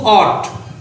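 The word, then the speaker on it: ought: তাহলে Ratna অট টু, এটা উচ্চারণ কিন্তু অট, মনে করো যে বাংলার ও আর টি অট, বা স্বরে অ আর ট, অ আর ট অট, এরকম এ ইউ জি এস টি অট, অট টু।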